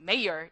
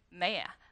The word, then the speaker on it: mayor: 그래서 우리 요 시장님의 동의어들 그리고 발음이 여러분들이 아는 mayor 이렇게 안 나오고요. 메이야? 메이야. 네, 하고 지나갈 수 있다. 그러니까 영국식 발음이랑 친해져야 된다라는 걸 좀 알고 들어가시기 바랍니다.